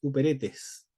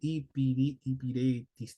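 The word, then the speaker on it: ὑπηρέτης: El vocablo que se utiliza acá de servidores uperetes o hiperetes. Hiperetes, hay varias formas de pronunciarlo en griego, pero acá uperetes, o puede ser hipiretis también.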